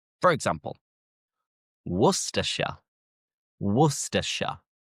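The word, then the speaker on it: Worcestershire: England end in shia but the shy is pronounced as sha. For example, Worersha, Worersha, Glostershure, Glostershure, Leersha,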